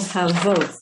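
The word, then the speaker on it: הוות: I don't know if I told you how to pronounce this word, but it's called havot.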